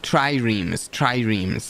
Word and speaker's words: triremes: Triremes. That's how you pronounce it.